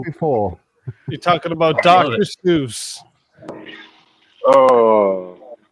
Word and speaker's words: Seuss: Seuss. Oh, it's Dr. Seuss. Get it right. Seuss? Don't tell me. It is Dr. Seuss. It's actually supposed to be pronounced like the word voice, not like Seuss.